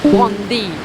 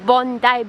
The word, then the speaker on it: Bondi: Don't pronounce it as Bondi。這個叫 Bondi Beach。Bondi Beach。